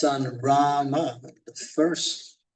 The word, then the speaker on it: राम: But then Srila Prabhupada, at least I heard from a couple devotees, he wanted us to chant Rama because that's the whole mantra.